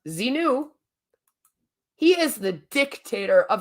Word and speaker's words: Xenu: to pray to zenu Xenu see pronounced zinu he is the dictator